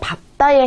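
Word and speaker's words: 밟다: 원래 리을 비읍은요. 리을이 보통 남는 게 대표음으로 남는 게 맞지만 예외적인 경우가 있습니다. 그게 바로 밥다에 해당이 되는데요.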